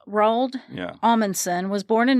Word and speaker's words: Roald: But then later, Roald Amundsen took the Fram to Antarctica in 1911.